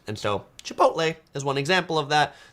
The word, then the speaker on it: Chipotle: famous for their burritos is not pronounced like it is spelled Chipotle Chipotle might be how you pronounce that but much of the USA used to be Mexico and so many words